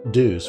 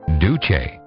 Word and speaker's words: Duce: out once I learned that Duce is not pronounced deuce, but Duce, for Latin reasons.